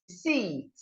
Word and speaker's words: receipt: The P is silent in this word, so you should go receipt, receipt, not receipt.